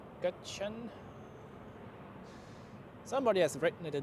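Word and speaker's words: Gökçen: Not gin I know but uh gachan somebody has written it in the live chat earlier today.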